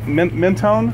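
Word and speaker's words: Mentone: up there did did I say it right mennone yep yeah what what's the highway that comes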